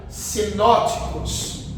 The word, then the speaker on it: sinóticos: Mas a primeira, como se escreve, se pronuncia sinóticos.